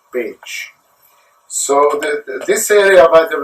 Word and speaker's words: Pécs: It is pronounced Pécs. It's P-E-C-S, but the pronunciation is Pécs.